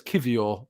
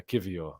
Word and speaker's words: Kiwior: far as more it's kivio um obviously in Polish you pronounce your W's as V's um so yeah kivio is is that or